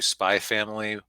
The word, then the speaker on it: Spy x Family: been slowly watching through Spy Family. It's spelled Spy X Family, but it's apparently you're supposed to leave out the X because Japanese anime titles are confusing.